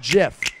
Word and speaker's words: GIF: coming listen it's a categorical fact that it's pronounced Jim just the way it is I understand if you want to call it gift that's your it's your right go right ahead